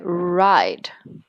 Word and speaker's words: Ryd: Well, it's Y, obviously. So it's like ride. Maybe should be correct then. Yeah. In English.